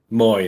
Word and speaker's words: Mooy: Moy, that's it, Moy. Yeah, because it's spelled Mooy.